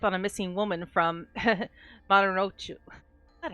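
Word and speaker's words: Marunouchi: Maru no Uchi.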